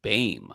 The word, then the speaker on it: Boehm: Jacob Beam, originally Johannes Jacob Beam, or I'm sorry, Jacob Boehm, spelled Boehm, but pronounced Boehm, apparently. Interesting. Like, oh, put on the mask and my name is Boehm.